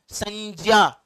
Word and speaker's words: संज्ञा: ज धन य से बना होता है, तो इसका शुद्ध उच्चारण जो है वो ज्ञा है, ज्ञा, संज्ञा, संज्ञा। लेकिन अगर आप इसको ज्ञा पढ़ते हैं, ज्ञा, ऐसे कुछ संज्ञा पढ़ते हैं, तो तब भी कोई खास दिक्कत की बात नहीं है। शुद्ध वाला ये है, पर प्रचलित ये भी है, तो चल सकता है। दोनों में से कोई भी आप बोलें, कोई खास दिक्कत की बात नहीं है, लेकिन मैं इसका शुद्ध उच्चारण ही करूंगा, संज्ञा ही बोलूंगा।